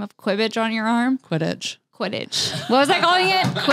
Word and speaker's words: Quidditch: It's Quidditch.